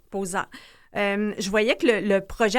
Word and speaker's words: POSA: Donc vous vous travaillez, je sais pas si je vais bien prononcer l'organisme Posa. Posa. Posa.